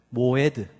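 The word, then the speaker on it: מועד: 저를 모에드.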